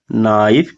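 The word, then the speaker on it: knife: दी नाइफ के एन आई एफ ई नाइफ। याद रखिएगा। ठीक है? के के बाद अगर तुरंत एन है तो के का उच्चारण नहीं होता है।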